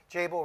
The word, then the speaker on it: Jabil: And I think one of the things at Jabil, what we're committed, Jabil rhymes with enable, right?